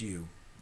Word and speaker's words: Ryu: covered in cream you that's Ryu pronounced you hook it up and